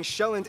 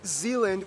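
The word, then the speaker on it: Sjælland: and 74 are inhabited the largest island being shelland not zealand which is not to be confused with dutch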